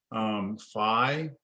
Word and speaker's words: phi: It's pronounced different ways depending on who you ask. Phi, you might hear people call this phi. You might hear people call this phi. Okay. I use both.